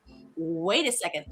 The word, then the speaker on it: wait a second: Wait a second. So, how is this pronounced? Wait a second. Feel it as one word with first syllable stress.